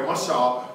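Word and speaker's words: מָשָׁל: That's how it's pronounced. I put it in there, mashal, which refers to all expressions that contain a comparison.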